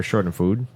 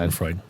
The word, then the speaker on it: Schadenfreude: Which was Schadenfreude or Schadenfood. I don't know how to pronounce that. Schadenfreude.